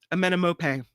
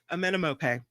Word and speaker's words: Amenemope: Wait, I didn't say it right. Amenemope. That's it. Amenemope.